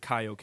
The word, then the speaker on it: Kaioken: They said Kaioken.